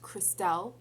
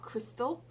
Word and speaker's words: Christelle: So the girls, Christine and Christelle, her name is actually pronounced Christelle, not Crystal.